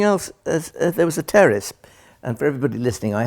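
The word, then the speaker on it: Pteris: yeah it's like a cup of tea well something else as there was a terrace and for everybody listening i have to tell you that's p-t-e-r-i-n it's a silent p a terrorist fern called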